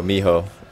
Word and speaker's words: Mijo: Not Mijo. Miho.